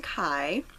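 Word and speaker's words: Kei: is a reference to Kai Tsukishima from Haikyuu. And I hope I said his name right. I know that they call him K in the anime, but it's spelled more like Kai, so that's what I named him.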